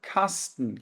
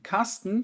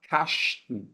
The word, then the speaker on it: Kasten: E aqui eu tenho um ST, mas não quer dizer que eu tenho que pronunciar Kasten, tá?